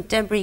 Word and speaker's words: debris: Horrifically, they're all words that close with a silent letter. Oh, crumb, okay. Column, debris, crochet, you do not hear the last letter.